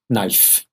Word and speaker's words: knife: it's got a knife but it's pronunciation knife is silent knife knife and if if the food and the